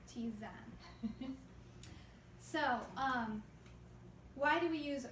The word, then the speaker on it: tisane: Anyway, but herbal teas would be, scientifically, they're going to be a tisane, and it's spelled Tisane or Ptisane, but it's pronounced tisane.